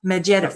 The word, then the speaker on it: Medvedev: I wrote about the Russians disclosing UFOs and talking about the briefcase that how do you pronounce his name? Medvedev? Yeah. Medvedev, thank you.